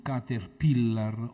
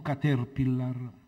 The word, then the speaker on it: caterpillar: come un caterpillar o caterpillar. Ho guardato la pronuncia, Qui vale la regola di come una parola inglese si pronuncia in italiano e vedo che sono ammesse entrambe le pronunce, entrambi gli accenti.